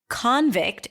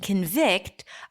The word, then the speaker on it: convict: you distinguish between them because in convict the stress is on the first syllable and the second syllable is reduced aswa convict versus convict the first syllable is reduced awwa ASW takes a step back to allow the primary stress vict to shine how consider it okay